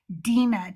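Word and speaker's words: Dinah: But um we are at Dena today. And I say Dena because that is the actual uh pronunciation in Hebrew.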